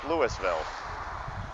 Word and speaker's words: Louisville: A man with the first name of Lewis named this town after himself, so Louisville. This isn't Kentucky.